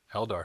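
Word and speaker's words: Eldar: Elder. So just like it sounds.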